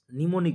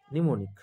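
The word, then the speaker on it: mnemonic: তাদেরকে বলা হয় নিমোনিক বলা হয়। ঠিক আছে, এম প্রোনাউন্স হবে না এক্ষেত্রে, নিমোনিক।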